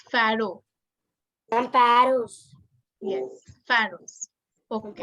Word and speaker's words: pharaoh: How do we pronounce this word? Egyptian for Egyptian king? You can unmute yourself. It's pharaoh.